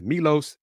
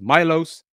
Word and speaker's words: Milos: he was in town for his visit well Milos usan announced he is committed to the Houston Cougars and head coach Kelvin Samson Thursday I said his name pronounce it as Milos it is Milos call him Los that's what I'm gonna do